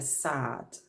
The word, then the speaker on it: Saad: I was listening to called Leila sad watch I pronounced her surname it's s double ad but she mentioned being